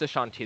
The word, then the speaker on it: Ashanti: Is it Ashanti or Asante? There's different ways of spelling it. Different people do it differently. It's pronounced Ashanti though.